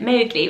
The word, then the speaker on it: Mowgli: book by Kipling and he pronounced it mildly so Wow as momen with cow but I think in America and everywhere else we call it Mowgli which I think is